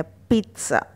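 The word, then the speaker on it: pizza: तो यहाँ पे कहीं पे भी एस नहीं है, ठीक, लेकिन हमें उच्चारण के समय स का साउंड यहाँ पर देना है, पिज़्ज़ा। नेक्स्ट देखिए, सैंडविच, सैंडविच कहा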